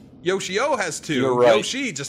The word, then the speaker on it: Yoshio: you say his name Yoshio it's like Yoshi with an O it's Yoshio yo she already has two